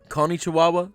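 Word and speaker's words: こんにちは: Watch out for the wa on the end, which is always pronounced wa. I'm not sure what to make of that. But konnichiwa, saying konnichiwa, good afternoon, we can work with that.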